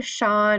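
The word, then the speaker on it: Chan: And so it's either Shan or Han Buddhism, which is spelled C-H-A-N.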